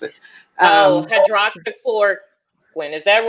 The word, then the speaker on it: hydroxychloroquine: me, well, what about the is it the hydrochloroquine? Help me if I mispronounce it. Hydroxychloroquine.